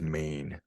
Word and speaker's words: Men: It's called Ennis, Maine, and Maine is it's spelt Ennis Men, but the Cornish way of pronouncing Men is Maine.